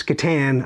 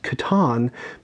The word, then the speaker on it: Catan: I pronounce this Catan, apparently the correct way to pronounce it is Catan, but listen, this is a significant game to